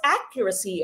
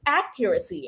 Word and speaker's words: accuracy: Now, by the way, it is pronounced accuracy, okay? So, yung stress po ay nasa first syllable. Accuracy, hindi po accuracy, no? Accuracy is wrong. It should be pronounced as accuracy, okay?